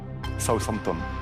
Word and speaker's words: Southampton: Cach Southampton. Bien prononcé en plus.